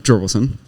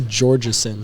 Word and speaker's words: Georgeson: So, and currently in the bottom 5 is Brady, Carson May, Luke Jorgelson, and Talon Peterson. It's actually Georgeson. Georgeson? We just mispronounce it. We call him Jorgelson.